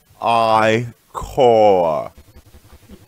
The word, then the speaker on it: ichor: I sense a tropo chalice I can trigger with magical ichor. That's pronounced I-core. Choose your ichor wisely.